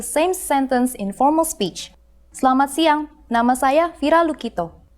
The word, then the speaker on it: Selamat: Senang So I said selamat, so it's selamat, so the E isn't pronounced. So selamat siang.